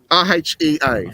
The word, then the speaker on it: Rhea: We've got Titan here, and just down here, this little faint little one, is Rhea. R-E-H-A, is it? I forget how it's spelled. R-H-E-A, Rhea.